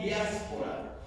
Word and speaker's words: diáspora: En el lenguaje griego, la palabra dispersión se pronuncia diáspora, y diáspora significa alguien o personas que están fuera por causa de la persecución.